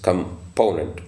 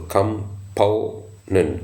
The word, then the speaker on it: component: of this word is component so the stress um is on the second syllable component so component the first